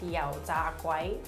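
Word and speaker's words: 油炸鬼: The way you pronounce it in Cantonese is yao tiu, or there's another way of saying it where it's like yao za guai.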